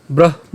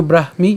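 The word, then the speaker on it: ব্রাহ্মী: স্থিতি পার্থ নৈনাং প্রাপ্যিয় বিমুহিয়তি স্থিতুয়া সিয়ামন্ত কালেপি ব্রাহ্ম নির্বাণ মৃছতি একদমই সহজ প্রথম থেকে একটু খেয়াল করি এটার উচ্চারণ কেমন হবে এশা এরপর ব্রাহমি কেন ব্রাহমি এখানে আমাদের যে যুক্ত বর্ণটি আছে এ যুক্ত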